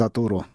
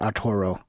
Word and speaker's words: Arturo: It's Arturo, not Arturo. Arturo. Okay? Say it right.